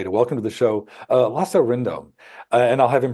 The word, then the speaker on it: Lasse Rindom: So my name is Lasse Rindom. That's how you say it in Danish. So people could know that. I always say it's okay to say Lassie. Everyone knows that. That's dog.